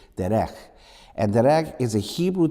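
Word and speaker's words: דֶּרֶךְ: And the Hebrew rendering of the meaning for the word way, I think the word, if I pronounce it correctly in the Hebrew, is derech.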